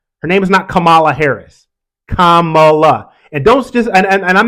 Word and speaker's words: Kamala: you're not with her say her name right Kamala you want someone to have respect on an